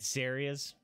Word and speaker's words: Saria: You always emphasize the first syllable. So you did Saria's.